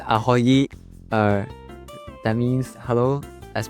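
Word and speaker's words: ahoj: Uh is it pronounced aoy? Uh that means hello as per my understanding. Can maybe can you teach? Yeah. Yeah. Yeah. It's aoy.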